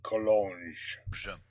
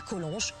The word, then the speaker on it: Collonges: Collonges. Oops, you pronounced the G. Collonges.